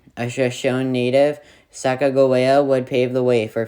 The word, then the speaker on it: Sacagawea: her a spot on my list number nine sacagawea yes that's how you pronounce her name a legendary figure of the